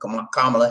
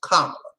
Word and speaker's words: Kamala: Kamala Harris. That's how it's pronounced. They have a problem with people pronouncing it, but it's pronounced Kamala.